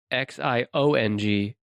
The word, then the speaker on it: Xiongnu: It's Xiongnu. NU. Okay. The Jingu? It looks like I'm really bad at pronouncing things like this, so apologies to the listeners, but to me, it looks like Xiongnu Empire.